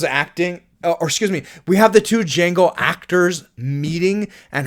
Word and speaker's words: Django: We get Django meeting Django. What's your name? Django. You know how to spell it? The D is silent.